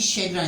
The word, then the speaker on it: chagrin: We will move on another word से शैग्रन, इसकी इसकी प्रोनाउंसिएशन होगी शैग्रन।